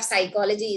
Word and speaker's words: psychology: class without knowing that the p in front of psychology is silent the p in psalms